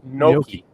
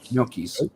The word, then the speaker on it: gnocchi: How do you pronounce it? No, those potato and noodles type of thing. Nookies, not Noochies. Gnocchi. Gnocchis.